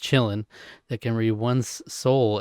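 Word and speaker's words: Qilin: There's a creature in the film, a tiny fawn-like being called a chillin, it's pronounced chillin, that can read one's soul and bows to those who are pure of heart.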